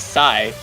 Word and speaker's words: Xi: three missing yeah s you pronounce XI like Sai oh oh sigh die